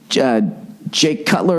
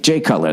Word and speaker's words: Jay Cutler: Jake Cutler. Is it Jay or Jake? Jay Cutler. That's right.